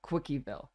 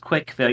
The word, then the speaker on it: Quickieville: you could go to Quickieville. Okay, well, for firstly, it's pronounced Quickville. You just say CWC like it's spelled like the word quick.